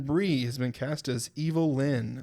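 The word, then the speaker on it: Evil-Lyn: has been cast as evil Lynn is that how you say it I think so that's literally how it was spelled there so I think it's Evelyn cuz supposed to be a pun on Evelyn yeah that's why I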